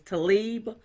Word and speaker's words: Tlaib: I cannot pronounce her last name. It's Tlaib, but Congress Rashida Tlaib.